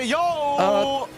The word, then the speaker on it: Yeo: Yeah, yo! That is his actual name, and that is how it's going to be pronounced moving forward here in MSC.